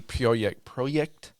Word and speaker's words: Projekt: Upper management, and which is crazy because CD Projekt.